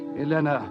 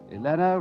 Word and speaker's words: Elena: Elena rhymes with Vienna.